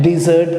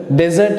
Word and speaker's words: dessert: ये सब जो है डिजर्ट का हिस्सा है। सो how would you pronounce डिजर्ट? डेजर्ट नहीं करना है, डिजर्ट, DESSERT।